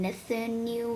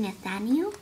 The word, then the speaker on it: Nathaniel: couldn't spell that name i keep saying nothing new or something like that it's actually nathaniel so yeah it's gonna